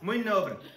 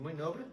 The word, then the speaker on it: Mui nobre: Muy nobre. Okay? Okay, that's I'm going with the Portuguese pronunciation. Muy nobre.